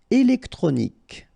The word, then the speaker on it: électronique: Électronique. Okay, so as we saw previously, Q-U-E at the end, K. Okay, électronique.